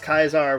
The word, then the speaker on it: Caesar: Caesar which I mean the game insists on mispronouncing his name so I mean yeah no actual Julius kaisar would was kind of a jerk was really good at killing people pretty much yeah I know uh like I said 25-year-old game aimed at children so you don't have proper Latin pronunciation here all right let's